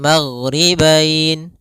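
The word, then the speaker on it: الْمَغْرِبَيْنِ: Maka kita boleh membacanya maghribain dua harakat. Magribain empat harakat. Maghribain en harakat.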